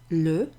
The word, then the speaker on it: le: Okay, this one actually rhymes as well with those. Le. Excellent.